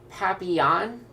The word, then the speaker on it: papillon: name for the dreads it's pronounced papillon is it really pappy yawn on oh they